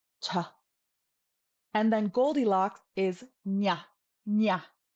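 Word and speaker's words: ཉ: And then Goldilocks is nya, nya.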